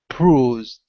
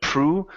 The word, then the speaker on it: bruised: So this is an oo sound here in the middle. Bruised. Bruised. Okay, give me a B instead of prue. Bruised.